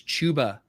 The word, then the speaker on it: Chuba: I had been saying Chuba Hubbard all off season, and then I was scolded, and I learned that the correct pronunciation is Chuba Hubbard.